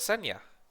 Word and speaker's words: Kseniya: I recognize that her name is actually misspelled on there because I had put it that way to help people with pronunciation, but it's actually not how her name is spelled. Assuming you can even see that. It's not an X, it's a Kseniya.